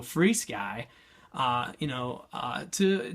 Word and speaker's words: FrSky: or to free Sky free Sky just recently found out I was saying it wrong this whole time so free Sky uh you know uh